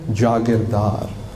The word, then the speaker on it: Jagirdar: Nobody's got my name, nobody has my name, Jagirdar. People can't pronounce it, Jagirdar, Jagirdar.